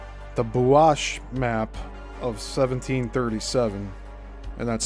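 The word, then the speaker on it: Buache: And another unique document, the Bash map of 1737. and that's spelled B U A C H E contribute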